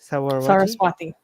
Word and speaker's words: Saraswati: Saraswati. Saraswati.